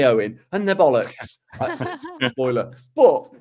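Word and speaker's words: Eoin: This is from Owen, spelled E-O-I-N, which is one of the better ways to spell it, I think.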